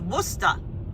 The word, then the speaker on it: Worcester: Worcester pronounced Worcester Taxman 81c Mary a saw Steely Dan this